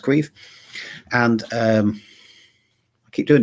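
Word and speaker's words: Caimh: for queef and queef as most of you probably know is spelt c-a-i-m-h being an irish name pronounced queef and um i keep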